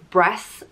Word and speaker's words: Bres: that we'll talk about bress the tyrant king it's spelt b-r-e-s but it's pronounced breast like chess and he was the